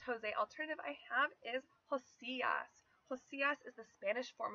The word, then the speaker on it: Josias: However, Spanish-speaking people would of course be likely to pronounce it Josias.